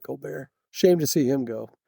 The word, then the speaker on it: Colbert: I think she's Colbert, but Steven Colbear is, you know, spelled the same, but he calls it Co Bear.